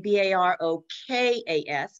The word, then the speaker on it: Barokas: But in the Ottoman Empire, it became Barokas, because there's no hard C in the language there.